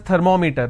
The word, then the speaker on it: thermometer: Meter. We all pronounce this as thermometer. Thermometer. It's not thermometer. It's thermometer, right? Now meter is pronounced as meter. It's thermometer. It's not thermometer, it's thermometer. So I will pronounce, or I will stress here, because meter itself has 2 syllables.